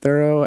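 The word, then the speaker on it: Thoreau: there was a speaker about Thorough, Henry David Thorough and um and and you're pronouncing it correctly.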